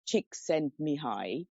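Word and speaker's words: Csikszentmihalyi: couldn't get that name right pronounced as oh pronounced as chick sent me high linked with Buddhist teachings and abhidham Venable bante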